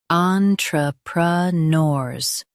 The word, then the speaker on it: entrepreneurs: Emphasize nors and keep on light.